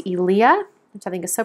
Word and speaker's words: Eliya: Her name is pronounced Elia, which I think is so pretty.